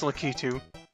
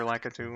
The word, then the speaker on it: Lakitu: sure why not thanks lakitu or lakitu whatever I don't know he's pronounced lakito in the cartoon thank you Leticia ding